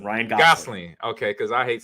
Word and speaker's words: Gosling: me and chat guys so it was Gosling Gosling Ryan Gosling okay because I hate saying people's name wrong because people destroyed my name when I